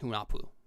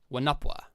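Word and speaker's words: Hunahpu: She was named Hunapu. And I realize now I've been pronouncing that wrong. So it's spelled like this, but it's pronounced like this. Wanapwa.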